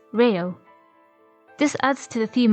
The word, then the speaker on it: LEO: As with the Japanese accent, Leo would be pronounced as Reo.